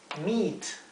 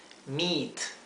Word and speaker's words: meat: vino blanco vino tinto meat es carne en sentido genérico meat meat Cuando vean en inglés la combinación de letras e a sepan que se lee se pronuncia como una I larga del español Meet sí me del